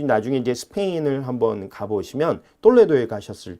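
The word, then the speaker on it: Toledo: 그 서코투족들이 그러니까 AD 4세기에 똘레도를 중심으로 한 300년 정도 통치를 하게 됩니다. 저게 이제 톨레도라고 적어놨습니다만 서코토 왕국의 천혜의 요소 톨레도라고 적었는데요. 저희가 똘레도 이제 T 발음을 좀 굉장히 아주 세게 하죠.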